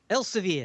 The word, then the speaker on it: Elsevier: Here's a big company, Elsevier, I suppose is how you pronounce it. They're a huge... Elsevier. What's that? Elsevier.